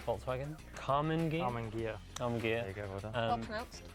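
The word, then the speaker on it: Karmann Ghia: Carmen Gear. There you go, well done. Well pronounced.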